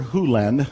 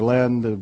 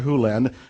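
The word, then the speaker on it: Hew Len: Lenz world and it's actually Doctor Who Len I've learned it from E to dr. land but it's actually dr. huland if you want to say his name correctly in Doctor Who lens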